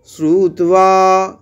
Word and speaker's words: श्रुत्वा: তারপর হচ্ছে শ্রুত্বা, শ্রুত্বা, শ্রুত বলছি একসাথে এক ঝোঁকে, শ্রুত্বা, শ্রুত্বা, এখানেও বটা কিন্তু ওয়া উচ্চারণ। শ্রুত্বা ধর্মানশেষেণ, তালবস্য, এটা তালু